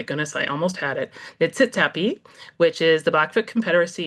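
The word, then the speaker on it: Niitsitapi: And I would like to recognize that I live and work in the traditional territories of the Nitsitpi. Oh my goodness, I almost had it. Nitsitapi, which is the Blackfoot Confederacy, including Siksika, Piikani,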